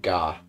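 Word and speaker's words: が: It's always pronounced with a hard G. Don't be tempted to pronounce it with like a J. Oh, wait. So ka and ga.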